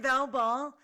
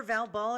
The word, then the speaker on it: Val Ball: I'm Val Ball, your hostess with the mostest. Just remember, Val Ball, it rhymes with foul ball because sometimes I'm out of line.